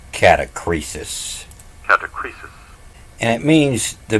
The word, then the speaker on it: catachresis: You might want to pronounce it as a catachresis.